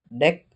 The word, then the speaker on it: deque: Antrian pertama itu antrian berujung ganda, deque atau diucapkan dec, atau antrian berujung ganda adalah struktur data yang mirip antrian yang mendukung penyisipan dan penghapusan di bagian depan dan belakang antrian.